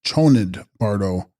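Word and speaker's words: Chönyid Bardo: Text: Chosnid Bardo, pronounced Chonid Bardo, intermediate state or state of uncertainty during the experiencing of reality.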